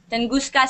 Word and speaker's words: Tunguska: Tunguska, Siberia.